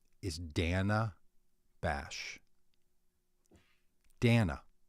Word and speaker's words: Dana: Dana, not Dana.